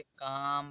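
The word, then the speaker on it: calm: ए एल एम तो एम से पहले एल आया है यहां पर तो इसे कालम नहीं पढ़ा जाएगा इसे काम पढ़ा जाएगा इसे बाम इसे पाम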